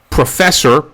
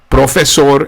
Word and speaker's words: profesor: So professor has one S sound in it. It's profesor. If you had the double S sound, it would be professor. which is not the correct pronunciation.